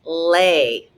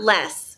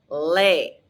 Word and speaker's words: les: than one thing and it's pronounced lay that's tricky i know not less no lay all right now repete